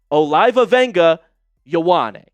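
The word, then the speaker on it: Olaivavega Ioane: Okay, it's Olivia Wena Yawan, but we can all just call him Vega from here on out. But but that is how you say it.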